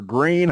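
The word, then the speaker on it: Gruene: Ruin or green? How do you pronounce it? Green. Green. Okay. Green. Yeah. So it's it's a it's a name of German origin, so pronounced green.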